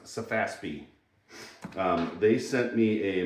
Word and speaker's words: SEFASPE: It's pronounced Safaspi.